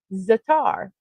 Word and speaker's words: za'atar: You pronounce Z A apostrophe A T A R as zatar.